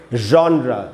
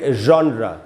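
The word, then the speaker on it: genre: है तो इसको पढ़ेंगे जॉन्रा इसको लोग अक्सर जॉनर बोलते हैं अपने आप हम पूछते हैं ना तुम किस जॉनर के सिंगर हो तो जॉनर नहीं होगा दोस्तों उच्चारण है जॉन्रा तो दोस्तों यही यही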